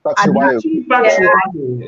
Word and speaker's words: Batshuayi: Batshuayi is actually how I pronounce his name.